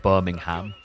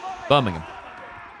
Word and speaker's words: Birmingham: How do you say Birmingham? Birmingham. Not Ham. There's nothing ham about it.